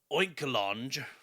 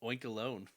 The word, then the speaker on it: Oinkologne: It evolves into Oinkologne. Oinkologne? Cologne? Oinkalone? I think it's Oinkalone. I don't know. Is that the Spider-Ham version of Home Alone?